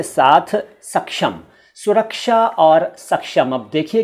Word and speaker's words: सक्षम: को देख लीजिए, और यहाँ भी समझ लीजिए सुरक्षा और सक्षम का सही उच्चारण यही है जो मैं कर रहा हूँ।